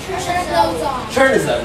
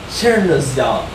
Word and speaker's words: chernozem: Chernozem, right? Just Chernozem. But it's actually pronounced Chernozyom.